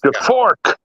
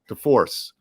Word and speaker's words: DeForce: I think with Jordan DeFork. Am I saying it right? DeForce. DeForce, that's right.